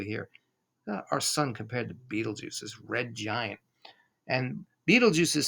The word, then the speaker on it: Betelgeuse: here's antaris and beetlejuice some people say betelgeuse actually that's the proper pronunciation better juice but we all say beetlejuice it sounds better beetlejuice is enormous look